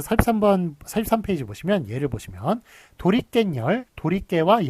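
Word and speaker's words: 도리깻열: 자, 43페이지 보시면 예를 보시면 도리깬열, 도리깨와 열 두 개가 합쳐졌는데 이게 발음이 도리깬, 깬에 니은 붙고요. 열 뒤에 니은이 덧붙습니다. 그래서 니은이 덧붙는 거예요.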